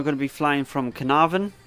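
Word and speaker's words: Caernarfon: to be flying from carnarvon in wheels i think that's how you pronounce it is it's welsh so i'm not welsh trying me best to pronounce it up to blackpool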